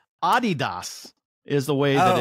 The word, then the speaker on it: Adidas: and if I was say it correctly it's Adidas is the way that it's pronounced it's Adidas yeah for an unsponsored athlete